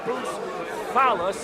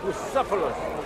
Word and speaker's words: Bucephalus: What kind of name is Bruce Phallus, anyway? It's pronounced Bucephalus.